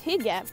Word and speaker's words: hygge: i got here people are talking about this hijab it's pronounced and if you look it up in